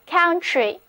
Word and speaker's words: country: 啊，整个单词读作 country。